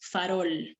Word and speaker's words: farol: Una palabra aguda, por ejemplo, cuando decimos farol, ¿no? Tú sabes que farol es una palabra que tiene 2 sílabas. ¿Cuál suena más? Suena más esta.